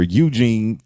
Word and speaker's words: Eugene: Speaking of hearing things, I remember one time I had a staycation here at Arrive where Eugene, because it rhymes with Blue Jean, will park your car for you.